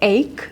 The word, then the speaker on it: ache: Пишется как аче, но читается как ache, okay?